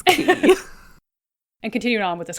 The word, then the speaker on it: quay: looked at me like, you silly American, that's key.